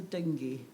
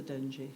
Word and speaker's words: Dengie: It might be pronounced the dengue, but I think it's the Dengie, because the other one's a fever, and we don't like fevers, do we?